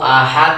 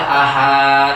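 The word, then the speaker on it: أحد: Nah, sama dengan qul huwallahu ahad, ada yang baca ahad, salah.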